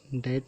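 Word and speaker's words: debt: डाउट में शक, ये बी साइलेंट है। इसी तरह डैट में भी टी से पहले बी आ गया है तो ये बी साइलेंट है।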